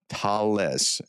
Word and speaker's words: Thales: Okay, it's Thales in English, but it's Thales in the way it's pronounced.